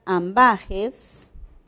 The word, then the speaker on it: ambages: La palabra ambages. Ambages tiene tres sílabas. La tónica es la penúltima, pero su última letra es una S. Entonces aquí ya no le podemos colocar nada.